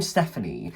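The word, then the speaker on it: Stéphanie: So imagine the name Stephanie, but there's an accent over the e, like Stephanie.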